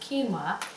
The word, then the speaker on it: quinoa: You know, it's funny, it doesn't look like that, but it's pronounced quinoa.